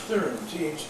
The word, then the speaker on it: Thyron: What does Thyron mean? Thyron. I don't have any idea. Scottish, it's a Scottish Yeah, name. she said, my mother said, it's pronounced Theron, Theron, which is a name, but not Thyn.